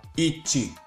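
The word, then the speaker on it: 一: 1 piszemy w hiraganie jako ichi.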